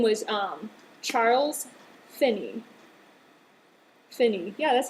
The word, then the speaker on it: Finney: Great Awakening his name was um Charles Finney Finney yeah that's how you say his name um